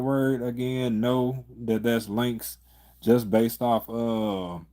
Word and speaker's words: Lynx: It's pronounced Lynx.